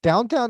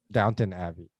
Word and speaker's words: Downton Abbey: thought I'd throw that in there is it downtown uh Abby is it isn't it Dalton Abbey or something okay let's just go with the crown it's easier to pronounce Downton Abbey yeah no I've never actually seen it that's